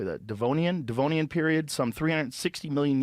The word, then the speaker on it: Devonian: until the devote how do you say that devonian devonian period some 360 million years ago you